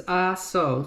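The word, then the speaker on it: Ah-So: It's because the RSO sauce, if you've ever seen it, it's RSO. It sounds just like that. AHSO is how they spell it.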